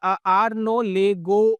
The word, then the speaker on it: Arnaud Legoux: मैंने पहले बोला था कि फ्रेंच नेम है, तो देखने में ये आर नॉट जैसा लग रहा है और ये लेगोस जैसा लग रहा है, लेकिन बेसिकली इसका जो राइट प्रोनाउंसिएशन है वो है आर्नो लेगो मूविंग एवरेज, ठीक है।